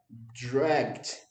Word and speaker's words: dragged: Não fala o e, tá? A pronúncia disso daqui é dragged. Dragged.